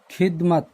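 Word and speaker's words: ख़िदमत: और खिदमत, अब यहाँ पे देखो अगर ये नुक्ता नहीं होता तो शायद इसका उच्चारण भी अलग से होता, लेकिन यहाँ पर इसके ये नुक्ता लग जाने से ये बोला जाएगा खिदमत, यानी खी, यानी पूरा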